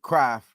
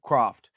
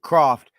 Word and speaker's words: Croft: Kittle, Ross Dwelley, and Kraft. Or I want to make sure Croft. I want to make sure I'm saying it right. Croft.